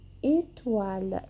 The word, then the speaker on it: étoile: Noir é nozes, un poisson, une voiture, uma joie, une voix, une soie, une étoile. Étoile a gente gruda lá no céu da boca a língua, ok? Bem sutil, bem suave.